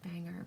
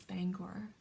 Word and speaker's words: Bangor: of driving into Bangor I always said banger but I've been corrected that it's Bangor um for Irish Artisan